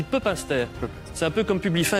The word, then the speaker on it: Pepinster: De Pepinster, on dit Pepinster.